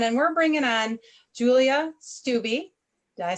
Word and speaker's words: Stubbe: And we're bringing on Julia Stubbe.